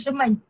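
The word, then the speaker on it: Schuman: Macam nak cikgu pronounce? Shuman kan? Shuman.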